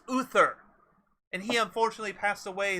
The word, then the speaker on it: Uther: be getting confused here it's pronounced uther and he unfortunately passed